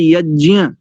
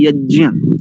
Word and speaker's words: यज्ञ: और बैंड बजा दी मुख नासिका वचन नासिका ये सानु सिक वर्ण है तो इसका शुद्ध उच्चारण होता है यज्ञ नासिका और मुख कंठ दोनों की सहायता से होता है इसका उच्चारण इसका शुद्ध उच्चारण है यज्ञ अस्तु अब आपके प्रश्न